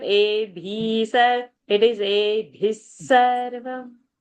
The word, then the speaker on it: एभिः: what I'm expecting over there is bha is a mahaprana, choti iki matra, bhi, and visarga sa because next word is sarva. So Yeah. bhis. I want the pronunciation bhis.